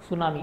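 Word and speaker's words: tsunami: सुनामी काय definition सुनामी सुनामी म्हणजे जपानी शब्द आहे ना हा सुनामी असं लिहितात त्याला त silent सुनामी so Japanese word है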